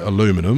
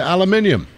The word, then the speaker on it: aluminium: Which is why they now pronounce it aluminum and we pronounce it aluminium.